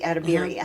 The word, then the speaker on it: Edebiri: Edebiri.